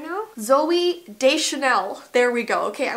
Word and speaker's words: Deschanel: Oh, this is Zoe Deganchanel. What's her last name? Oh my gosh. Why don't I know this? What's her name, Zoe? Like, I'm so off on the pronunciation right now. Zoe Deschanel.